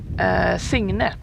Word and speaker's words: Signe: Signe, actually. Okay, That's how you Signe. pronounce it. So you don't really. It's not a hard G. It's Signe.